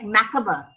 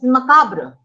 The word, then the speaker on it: macabre: english you know like like a word uh like makaba and the americans pronounce it as macabre then you have garage